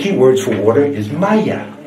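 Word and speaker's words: مية: It is not pronounced the same way in any other Arabic country. If you went to Saudi Arabia, they would say Ma or Meh. Only in Egypt is it pronounced Maya.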